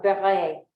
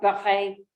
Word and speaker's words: Barret: Hotel Ami, 16e Rue de General Barret. My thinning lips move in silence. The pronunciation of Barret, my phone says, is close to beurre, the creamy French word for butter. I'll froth up Barret in my mouth and